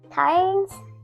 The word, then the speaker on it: Cairns: How do you pronounce that? Cairns? Cairns? Cairns?